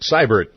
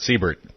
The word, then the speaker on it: Siebert: It's Siebert, pronounced Seibert, not Siebert.